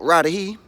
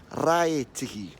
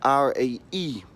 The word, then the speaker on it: Raetihi: Okay, not Raetihi, Raetihi. Alright, so that is spelled R-A-E-T-I-H-I.